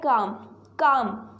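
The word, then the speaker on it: calm: सबसे पहला जो वर्ड है वो है काम। ठीक है, यहाँ पे एल साइलेंट रहता है।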